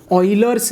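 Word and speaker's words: Euler: अपन क्या बोलते हैं, ऑयलर्स नंबर, प्रोनाउंसिएशन इंपॉर्टेंट है, ऑयलर्स बोलते हैं इसको, ये ऑयलर्स नंबर है,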